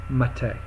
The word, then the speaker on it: MATE: I'm sorry maite not mate you know for many years I called it mate and then I went to their website and it's and they were saying it rhymes with latte not with mate so it's like latte